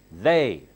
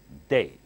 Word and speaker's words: they: ta sound is different you have to say they not day they tongue sticks out and touches the upper T they now this one